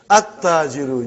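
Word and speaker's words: التَّاجِرُ: At-tajiru. You did not pronounce lam. Why you did not pronounce? Because it is sun letter.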